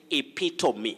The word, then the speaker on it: epitome: of kasaran in nairobi you say epitome not epitome epitome is very common but